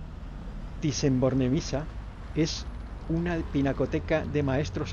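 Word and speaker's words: Bornemisza: en Madrid el Museo Nacional dicen borne Micha pronunciado borne visa es una pinacoteca de maestros antiguos y modernos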